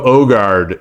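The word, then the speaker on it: Aagaard: okay okay and oh it pronounced kind of like the O and ogre ah oh yeah okay H okay like like yakob yakob ogard is is the the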